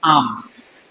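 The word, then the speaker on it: alms: ए एल एम एस। इसमें एम L silent है। क्या बोलेंगे इसको? आर्म्स।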